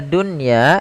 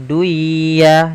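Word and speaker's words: دنيا: Kata dunya ini tidak boleh dibaca dengan duya, tidak, tapi langsung saja ke ya.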